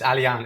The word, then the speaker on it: Alijan: It's Alijan. It's Alijan, but Alijan I like that.